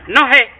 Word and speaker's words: nohe: Pronounced no hey, no hey.